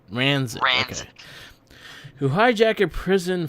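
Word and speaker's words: Ransik: every single criminal except Raskin. I can't say Ranzik. That's how you say it. Ranzik.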